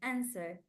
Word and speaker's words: answer: a answer answer answer answer answer answer W is silent it's not pronounced and you can see